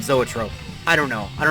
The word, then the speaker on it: zoetrope: of people saying that the correct pronunciation years ago was e-trope but i just looked it up and it said zoetrope i don't know i